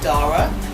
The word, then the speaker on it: Dara: very young age so my name is spelled dar a which is pronounced two ways you can pronounce my name Dora because we have the